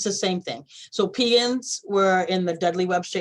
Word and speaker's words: Pegan: I don't know how to pronounce it, P-E-G-A-N. Yes, so Pegans, Native Pegans are a band of Americans.